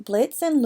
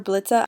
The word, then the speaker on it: Blitza: Today I'll be gender bending Blitz and Loona, who have now been renamed Blitza, the A is silent, and Muune.